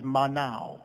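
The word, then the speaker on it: מנה: us to number the word number there is manao right now now but it's spelled as m-a-n-a-h right now now is pronounced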